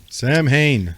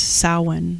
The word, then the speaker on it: Samhain: going to talk about it's spelled samhain sam hayne however in irish translation it's samhain like cowan but samhain so it's calvin cowan